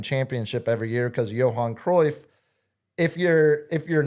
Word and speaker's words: Johan Cruyff: Johan Cruyff. Johan Oh, wow, that was a great pronunciation.